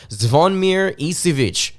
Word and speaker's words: Zvonimir Ivisic: to the Kentucky Wildcats for this year's team zavonmir isivic is how you pronounce his name for those of you out